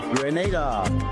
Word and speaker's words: Grenada: So today, like we Germans say, we are in Grenada. But I heard in English it's called Grenada. Say it right. Grenada. Say it right. Grenada. That's right. Grenada. There we go. Say it right. It's Grenada. It's not Grenada. It's Grenada.